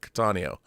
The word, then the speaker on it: Cattaneo: Cattaneo. Like catatonic. Cattaneo.